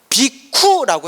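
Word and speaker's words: bhikkhu: 비구가 비쿠라고 해요. 원래 발음이 뭐라고 한다? 비쿠.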